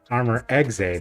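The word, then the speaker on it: Armor Exe: By the way, if you're curious about why I say armor exa that way, there's actually an official ruling that it name is pronounced like that.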